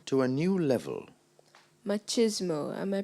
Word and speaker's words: machismo: The Japanese have taken culinary machismo to a new level. Machismo. Am I pronouncing the word correctly?